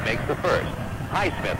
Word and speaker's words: Highsmith: At the line to shoot 2 is Haysmith, makes the first. Highsmith, I guess is the way we should say his name.